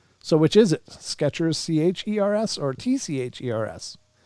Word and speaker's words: Skechers: There's plenty of debate about how the company's name is spelled. So which is it? Skechers, C-H-E-R-S, or T-C-H-E-R-S?